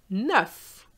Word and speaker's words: neuf: Pronounce the final F. And I'm going to show you the words. Neuf.